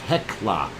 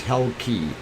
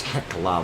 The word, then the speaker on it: Hekla: uh hell okay heckler okay that's what it's pronounced hekla i thought it was hell key but it's heckler volcano so that is this area over here